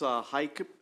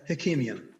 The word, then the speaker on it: Hakimian: Okay, let's go to Alex Heikeman. Is Alex here with? There's Yes. Alex. I think I mispronounced your last name. Forgive me. It's Hakimian.